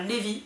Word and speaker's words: Levi: Le 8e tome, Redemption, c'est l'histoire de Phoenix et de Levi, enfin Levi, hein, on va le prononcer à la française.